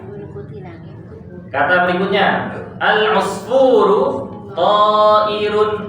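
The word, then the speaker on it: طائر: Ta'irun ta fathah, alif tanpa harokat, hamzah kasrah, ra dhammatain. Saghirun shad fathah, ghain kasrah, ya sukun ra dhammatain.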